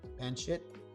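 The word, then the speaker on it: pancit: the first time oh pan sit okay cool that's how you pronounce it pan wait there's two there's two pronunciations now there's pan sit and pan seat who's right just kidding did you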